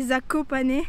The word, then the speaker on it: Zakopane: à le dire et j'avais cherché en fait c'était zakopanais mais on disait apocané je sais pas en français ça doit être plus